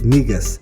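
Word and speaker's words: Negus: present in march 2019 he deputy's latest album pronounced migus at a listening session as part of art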